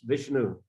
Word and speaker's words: Vishnu: Vishnu is Thai pronunciation, but if they read it in a proper way, as Sanskrit should be read, it's Vishnu.